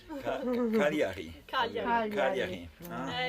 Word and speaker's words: Cagliari: Is it good pronunciation? Yeah, Cagliari. Cagliari.